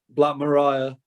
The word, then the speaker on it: Black Maria: Black Mariah. Mariah. Okay. So Mariah, like the Todd, yeah. like the it's, Todd, it's spelled Maria. like Maria, the Todd Rundgren song, Black Mariah.